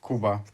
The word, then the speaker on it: Kuba: I'm French so I don't know how to pronounce it right I know so Cuba is your nickname right your name is actually